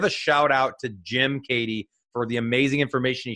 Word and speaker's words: Keaty: It's spelled Keaty, pronounced Keaty.